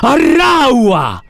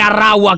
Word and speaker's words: Arraua: Egli si chiama Arraua. Si scrive A-R-R-A-U-A, proprio...